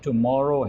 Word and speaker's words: tomorrow: Sometimes लोग गलती ये करते हैं कि इसको अलग-अलग प्रोनाउंस tomorrow करते हैं। tomorrow, ये tomorrow नहीं है, tomorrow है, यानी डबल आर पर ज़्यादा स्ट्रेस है।